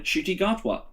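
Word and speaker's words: Ncuti Gatwa: the 14th doctor in shitty gartwa is that um hey that's how you pronounce it i believe that's how it's i believe i've seen interviews i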